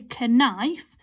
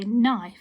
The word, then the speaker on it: knife: that word well done the silent k that's our silent letter because we don't say ke knife we just say knife so our k our